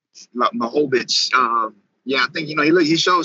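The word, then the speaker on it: Błachowicz: How you pronounce his last name? Blachowicz. Blachowicz.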